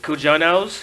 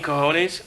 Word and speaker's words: cojones: Renee Young talking about mispronouncing cojones. How'd you say it? Cajones? Cujanos. Ooh. No. Jono. And It's not a Cor- Jonas brother. Apples and bananas. And Corey Graves saying, no, you mean cojones?